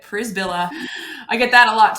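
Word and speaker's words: Przybyla: do yeah sure so my name is Julie so p-r-z-y-b-y-l-a in case you never really knew how to say it pris Villa I get that a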